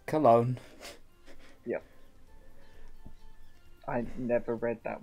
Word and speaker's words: Cologne: game again uh yeah yeah yeah we were pronouncing it as just going like uh collagen collagen case and you use those collagen but no it's cologne yep i never read that word i just